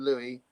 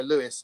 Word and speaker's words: Louis: the French version of Louisie, uh which would be Liis. So people go Lewis and you go, "No, it's Louis."